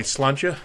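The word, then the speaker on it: sláinte: And in Ireland, they would say slancha.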